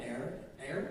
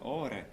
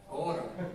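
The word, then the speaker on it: Åre: Stockholm, Air, I think that's how you say it. Anybody here from Scandinavia? Did I say that correctly? Are, sure. Air? What did you say? Ore. Ora. I was not even close.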